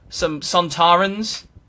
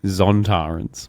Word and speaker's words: Sontaran: Love me some Sontarans. Just unrelated. Yeah, I've got to say Sontarans, because I always get in trouble for saying Zontarans.